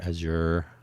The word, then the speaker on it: Azure: So there will be a need for Amazon Web Services or Azure or Azure depending on how you like to pronounce it or even less likely Google cloud Google Google compute platform is that what they call it.